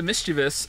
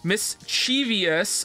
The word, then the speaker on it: mischievous: And add a whole new syllable to mischievous, turning it into mischievous rather than mischievous.